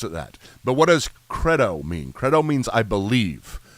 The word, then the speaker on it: credo: like the the Creed I like the long e on it better and I also like the band Creed so it works out so it should be Credo Inon creto house but I